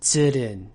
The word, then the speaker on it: Tsurun: Also remember that the vowel sound represented by the letter U in Japanese is actually an open vowel, so you don't round your lips whenever you're pronouncing it. Instead of tsurun, it's tsurun.